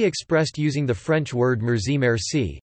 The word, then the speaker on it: مرسی: using the French word merci merci, stressed, however, on the first syllable, the hybrid Persian-Arabic phrase